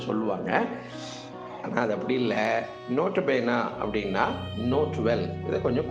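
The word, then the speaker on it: nota bene: இதனுடைய எக்ஸ்பேன்ஷன் என்னன்னா நோட்டபேனா. நோட்டபேனான்னு சொல்லுவாங்க, நோட்டபேனே என்று சொல்லுவாங்க, நோட்டபீனி அப்படின்னு சொல்லுவாங்க. இதனுடைய உச்சரிப்பு இப்படி ஒவ்வொரு மாதிரி இதனை உச்சரிப்பார்கள். ஜென்ரலான ப்ரொனன்சியேஷன் நோட்டபேன், அதை நாம் வைத்துக்கொள்ளலாம். இப்போ இது லாட்டினோட ஃப்ரேஸ்.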